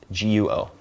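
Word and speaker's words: guó: So, there's a system for instance called GR, which stands for Guoyu Romatzyh. And you would say have first tone in Chinese for guo, guo, g u o. Then guo, second tone, should be country, like guoyu, country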